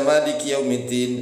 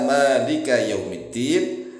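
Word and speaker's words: يَا مَالِكَ يَوْمِ الدِّينِ: begini ya Malik Jangan dibaca mandi qiumiddin Iya kalam jangan begitu karena memang hadisnya seperti ini ya Malika yaumiddin Iya Kak Butuh ini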